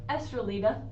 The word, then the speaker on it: Estrellita: Next up, we have Estrellita Scarlet, or Estrellita, how a lot of people are going to pronounce it.